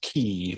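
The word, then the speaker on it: quay: um like stone gear almost but it's pronounced key but it's spelled u a y.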